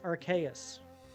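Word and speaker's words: Arceus: I believe it should be pronounced Archaeus, as in Deis, the Latin for God.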